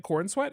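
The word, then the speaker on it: Corenswet: David Cornsweet.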